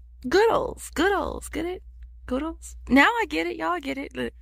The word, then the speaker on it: Goodles: It's pronounced Goodles, like noodles, Goodles. Goodles, Goodles, get it?